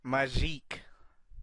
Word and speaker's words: Magique: I think you're supposed to pronounce it Magic. I always called him Maggie. It's pronounced Magique. Yeah, Magic.